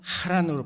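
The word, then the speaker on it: חָרָן: 막내 아들 하란은 그냥 하란이지만 히브리어에서는요, 지명 하란은 하란으로 발음을 합니다. 마찰음으로.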